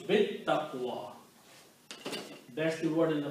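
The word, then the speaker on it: بالتقوى: So now you recite, lam was not pronounced, so it becomes bit taqwa, that's the word in the Quran.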